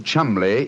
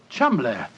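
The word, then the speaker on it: Cholmondeley: Being an American, he had no reason to know that the name Chumli is in no way pronounced the way it is spelled. Oh, Joe, I never thought of that. Chumlay.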